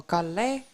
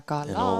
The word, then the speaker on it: Kalle: Maybe, yeah, that's the thing, like the E in the end, it gets pronounced as an A, with my name as well.